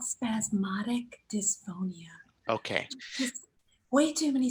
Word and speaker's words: spasmodic dysphonia: had a significant vocal issues, and it's called spasmodic dysphonia, right? So close. So close. Damn it. It's called spasmodic dysphonia.